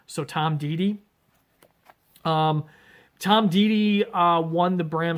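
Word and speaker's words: Deady: It looks like Deddy, but in the forward you find out it is pronounced Didi, so Tom Didi.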